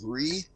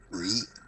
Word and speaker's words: Righ: Hi, I'm Ree, which is spelled exactly as it sounds, R-I-G-H, Ree.